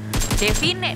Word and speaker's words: Devine: Tapi ini dia Reject yang udah berdekatan dengan Nova, tapi Devin di sini, Devin apa Divine? Lu pada bacanya? Kemarin sih ngediskus sama Pasta, Devine ya.